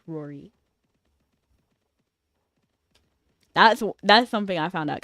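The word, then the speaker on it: Ruairi: Spelled Ru-a-iri, but it's pronounced Rory.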